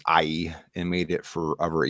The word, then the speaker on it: Ai: So Joshua burned Ai, I pronounce that as Ai, and made it forever a heap of ruins, as it is to this day.